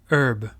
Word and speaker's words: herb: Et aux États-Unis, on dit aussi herb. Mais la prononciation ici, c'est hour.